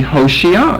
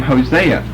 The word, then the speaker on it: Hoshea: We know him by the name Hosea. Well, that's because of this problem right here. You know, there's a difference between that and that. One is an S and one is an SH.